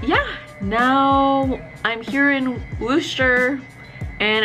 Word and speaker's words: Worcester: then Fort Lauderdale to Worcester, is that how you say it? Massachusetts. It sounds like rooster. Worcester.